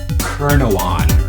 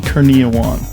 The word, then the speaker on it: Kurniawan: How do you say it? Ruby Kurnawan. Kurnawan. Kurniawan. Rudy Kurniawan. Okay.